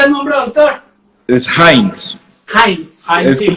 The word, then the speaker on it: Heinz: Heinz. Es sí. como, se escribe igual que la salsa de tomate, pero la EI en alemán es AI.